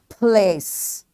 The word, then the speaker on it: place: And place. Place. All right, this E is C is followed by E. We will not say the sound of E. This is a silent letter here.